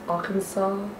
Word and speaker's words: Arkansas: what is that yeah i was gonna say all kinds but i know it's arkansas oh that's the one they